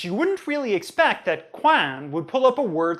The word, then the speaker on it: coin: So like quan in French is corner, but coin in English is a small metal monetary disc. So if you're accessing French, you wouldn't really expect that quan would pull up a word like money in English.